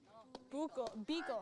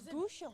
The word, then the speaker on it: Beagle: It's Beagle. Yeah, it's Beagle. It's Beagle. I thought it was Bouchon. Oh, it's I thought it was like Or Bouchel.